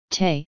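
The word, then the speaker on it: 德: Virtue, number, and getting or realizing, number, have the same name or pronunciation, te, in Chinese.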